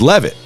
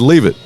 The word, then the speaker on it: Levit: It it's Levit. He said he's like He said, "Leave it."